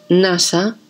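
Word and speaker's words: নাশ: Swa y sa se pronuncian del mismo modo en bengalí. Así, nasa, destrucción, suena como naswa, no sí.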